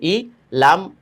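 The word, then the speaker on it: إِلَى: যেমন হামজা ই লাম ইয়া খারা জবর লা। এখানে কিন্তু ইয়ার উচ্চারণ হবে না।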